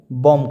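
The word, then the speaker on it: bomb: For examples के तौर पे देखते हैं तो बी ओ एम बी को क्या कहेंगे, बॉम्ब कहेंगे। यहाँ बी क्या हो गया, एम की बाद आया तो बी का उच्चारण नहीं किया जाएगा।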